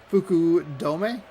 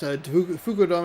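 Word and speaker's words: Fukudome: It's a little choppier than you might think, but we'll talk about Figgins at third base. Then it's Cos Kosuk Fuku Dome. Matt Holiday in left. Fuku Dome is the designated hitter.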